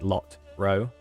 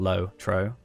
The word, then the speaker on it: LOTRO: It's like lot row, not low tro.